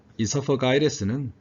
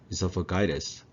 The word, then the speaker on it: esophagitis: 이 esophagitis는 사음절에 강세 있어요. esophagitis. 이렇게 발음하면 영국식이 되고요. esophagitis 그러면 미국식 발음이 됩니다.